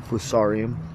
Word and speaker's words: Fusarium: It's also got Fusarium, that's correct pronunciation, Fusarium Crown Rot.